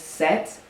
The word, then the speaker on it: Seht: Yeah, set is the name of this hair care company. And the name set. People have asked me if it's a play off of my name like. It's spelled H T.